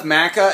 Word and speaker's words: maca: So the only problem with Maca is that it actually rhymes with caca and it kind of tastes like...